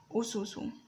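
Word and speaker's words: أُسُس: So taking the first example, ususu. Ususu here, the first letter is alif, it's pronounced as u. The second letter is sin, pronounced as su. The sin with a dhamma over it is pronounced as su. And the third letter is sin with a dhamma over it and also pronounced as su. U, su, su. U, su, su. Ususu.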